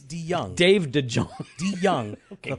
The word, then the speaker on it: DeJong: That's DeJong. No, but you pronounce it DeYoung.